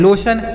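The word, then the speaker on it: lotion: नेशन क्या पढ़ेंगे नेशन देखिए अगर कोई शब्द में टी आई ओ एन दिखे आपको तो इसे आपको सन पढ़ना है क्या पढ़ना है सन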